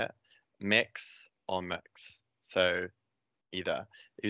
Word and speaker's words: Mx: forms and stuff and i learned from my head of edit on hughes recently that it was mixed so it could be pronounced mix so i think quite